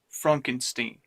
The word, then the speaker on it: Frankenstein: Frankenstein Frankenstein what my name is pronounced Frankenstein dr.